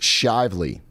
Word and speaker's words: Shively: Shively is pronounced Shively.